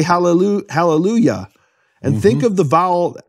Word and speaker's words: Hallelujah: In fact, in English churches, they pronounce the Yah of Hallelujah correctly. They don't say Hallelujah. They say Hallelujah.